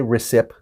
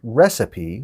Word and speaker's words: recipe: mistake was recipe sometimes sometimes in words we pronounce the e sometimes we don't this case we do we don't say recipie say recipe so the